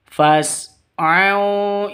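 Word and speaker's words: فَاسْعَوْا: wazarul bai fasu ila fas ini bukan alif tapi hamzah wasol kalau di tengah seperti ini tidak dianggap ya tidak dibaca jadi langsung masuk ke sinnya. Jadi bacanya fas bukan fas bukan seperti itu. Tapi fas au.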